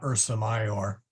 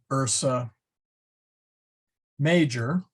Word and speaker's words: Ursa Major: part of the uh Ursa mayor but you will often see it spelled or Ursa major and that's because um they uh they they uh in the uh later part of the medieval period and especially when the Advent of printing they tended to put the JS in there and of course